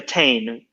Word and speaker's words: Teign: But the river is the River Teign. So the river is called Teign, but then the town is called Tin.